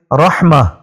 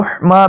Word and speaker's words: رحمہ: رکھنا یہ درست ہے۔ اور اس کا ایک دوسرا تلفظ بھی ہے جو کہ را کے اوپر ہم پیش پڑھیں گے، رحمہ، تو رحمہ بھی اس کو کہہ سکتے ہیں، تو لیکن اس صورت